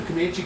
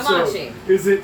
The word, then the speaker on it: Commachee: So that's the Commachee Cove Boatyard, right? That's what they call it? Commachee Yacht Yard. Commachee Yacht Yard.